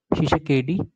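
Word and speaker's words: Tshisekedi: फिर D R Congo का president Felix शिसेकेडी। ठीक है, टी साइलेंट है उसमें, फिलिक्स शिसेकेडी, ये कॉन्गो के प्रेसिडेंट हैं।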